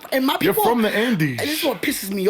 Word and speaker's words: Andes: way I pronounce that you said Andor and no that's not and or from the Andes mountains and and I'm